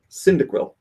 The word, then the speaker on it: Cyndaquil: me the phonetic spelling cyndaquil as in cinder and quill I guess cyanide yes